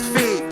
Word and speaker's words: Fev: Before you mispronounce my name, let me tell you it's Feed.